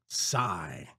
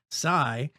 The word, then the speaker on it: Psi: want to show you it's called sigh at least that's how I think think it's pronounced I want if it was capitalized I'd say PSI pounds per square inch but Sai uh is a new